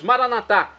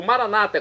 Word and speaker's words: Maranatá: E agora eu clamo do aramaico, dialeto de Jesus, Maranatá, como pronunciamos nós católicos. Maranata, como dizem nossos irmãos, das comunidades separadas, evangélicas ou protestantes. Não importa a pronúncia, o significado é o mesmo.